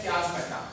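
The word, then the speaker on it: chiasmata: इन regions को हम नाम दिया करते हैं चियाज़मेटा का, चियाज़मेटा, चियाज़मेटा, इसको कोई भी प्रोनाउंस करेगा बेटा, इसको प्रोनाउंस करते हैं चियाज़मेटा।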